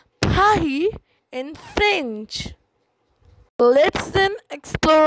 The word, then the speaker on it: Paris: Paris is pronounced Paris in French.